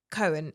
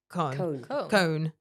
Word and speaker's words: Cohen: It's very hard to say his name with an English accent. It's Cohen. It's Cohen, but without the E. So it's like Cone.